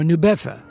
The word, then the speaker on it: New Bedford: At least he was until a fateful trip to the nearby port town of New Bedford or Newfa as it is pronounced there. Albert Terrell's trip to New Bedford led him down the wayward path.